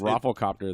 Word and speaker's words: Rafflecopter: it yeah but you don't like overpronounce it like medieval no that's not that one requires it um it's rafflecopter there's really not an iev or anything in there that we're not